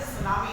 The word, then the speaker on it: tsunami: Spelling है TUSNAMI, तो T is silent, it is tsunami has been pronounced like this.